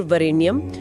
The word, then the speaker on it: वरेण्यम: तो जैसे वरेनियम है जो तीन अक्षर का लगता है उसे उच्चारण में वरेणियम जैसा मतलब चार अक्षर जैसा बोला जाता है।